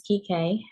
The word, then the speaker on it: Kike: And then Kike, is that how you say it? Kike? Yes, my name is Kike.